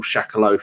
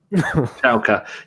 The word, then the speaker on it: Schalke: I can't pronounce that I call Shakalo 4, but that's not how you say it, is it? Schalke.